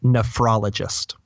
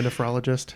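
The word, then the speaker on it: nephrologist: o l o g i s t NE nefrologist man I've heard this so many times it's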